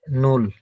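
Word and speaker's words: null: এটা জার্মানে বা ডয়েসে বলা হয় হচ্ছে নুল।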